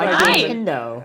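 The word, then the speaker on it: Riendeau: name is D Danielle rendo how nendo like Nintendo Danielle gave me some advice for the show it is like Nintendo so if you're curious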